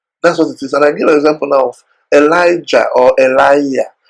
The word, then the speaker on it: Elijah: For instance, we say Elijah, okay, Elijah. The actual pronunciation is actually Eliah, Eliah. That is how the things are pronounced.